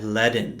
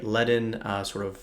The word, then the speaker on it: Ledn: And so in today's video, I'm going to break down the Ledn offering and platform. Ledn is spelled L-E-D-N, so it's sort of the Lend version of HODL.